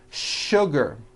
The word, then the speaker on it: sugar: not know is that there are some words in English that are written with the letter S but are pronounced with the SH sound words like sugar and sure and to